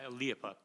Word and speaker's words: Liepa: Can you say your last name? Because I've been saying it wrong. No, Liepa. Liepa.